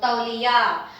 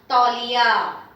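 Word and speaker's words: तौलिया: So ta, li, ya. Again, long, short, long. So the rhythm should be easily audible the way you are saying it. So tauliya, tauliya. Li is short but ya is long.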